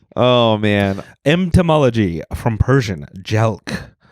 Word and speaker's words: jelq: man entomology from Persian jelk let's see is the US um rhymes with elk yeah uh uh noun